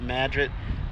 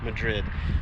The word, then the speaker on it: Madrid: wild hogs I think in the movie they pronounced it Madrid but I think in real life it's uh Madrid but so that's where